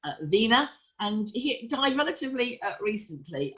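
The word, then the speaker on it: Wegner: is hans wagner so v w and no g so it's pronounced vena and he died relatively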